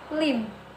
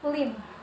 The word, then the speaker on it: limb: Jadi kemudian contoh yang kedua yaitu limb. Jadi B-nya tidak diucapkan, limb, atau bahasa Indonesianya itu dahan.